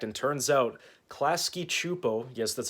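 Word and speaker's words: Klasky Csupo: if my theory was correct and turns out klasky chupo yes that's how you pronounce it the animation company responsible for rugrats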